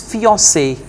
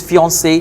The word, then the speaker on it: fiancé: The right one is fiancé. It's a French word. Yes. Whether male or female, we pronounce it as fiancé. In French, we pronounce it as fiancé.